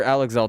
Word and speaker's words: Alex L.: you're bound to hear alexel talk about it at some point but uh I'm not alexel right now so also if anyone was confused yes that is how you say that you would not believe